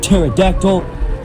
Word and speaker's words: pterodactyl: I'm being completely honest I don't even know why they added a p in pterodactyl if it's not going to be pronounced like it's just pointless